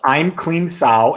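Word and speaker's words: Aim Klim Sauh: And the Bala Mantra is, I'm Kleem Sao. Sao Kleem I'm. I'm going to put that down. It's EIMKLEEMSAU. There's a mantra. It's pronounced I'm Kleem Sao, and then you reverse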